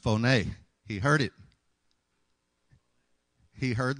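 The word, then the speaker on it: φωνή: Actually, it's pronounced phoné.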